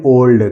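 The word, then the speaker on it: old: उदाहरण देखते हैं दोस्तों लिखा है ओ एल डी अब इसको ऑल्ड नहीं पढ़ेंगे इसको पढ़ेंगे ओल्ड क्या पढ़ेंगे ओल्ड इसी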